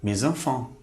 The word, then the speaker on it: mes enfants: Vamos fazer uma ligação, ou seja, vamos fazer uma liaison. Então, vamos pronunciar mes enfants.